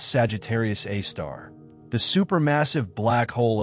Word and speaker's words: Sagittarius A*: This is the story of Sagittarius A asterisk pronounced Sagittarius A star the super massive black hole at the heart of the Milky Way.